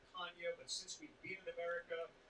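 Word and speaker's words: Canha: to explain to us the portuguese heritage and it's really kanye but since we've beaten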